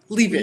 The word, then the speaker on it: Leavitt: So, let's talk about Whitney Levit. Did I say it right? Leave it. Leave it. Leave it. Okay.